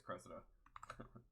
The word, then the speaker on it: Cressida: But, did I say her name wrong? No, it is Cressida.